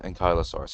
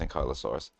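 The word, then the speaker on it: Ankylosaurus: So, it is pronounced Ankyosaurus. I've always been calling them Anks. I mean, I guess you can call them an Anki, but uh they are pronounced Ankyosaurus.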